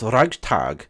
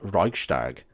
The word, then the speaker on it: Reichstag: By the way, it's pronounced Reichstag, not Reichstag.